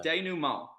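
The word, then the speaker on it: dénouement: first word you said I've never heard so day new m it's spelled D e n o u e m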